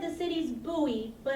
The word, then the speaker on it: Bowie: called Mary land my sister said the city's Booey but it's spelled like Bowie like David Bowie but it's